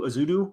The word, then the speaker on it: Ezeudu: And I'm about a game into Ezeudu, I believe is how you say it right now.